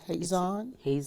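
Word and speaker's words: חזון: It is the root as that of the word H-A-Z-O-N. How do you pronounce that? Hazon?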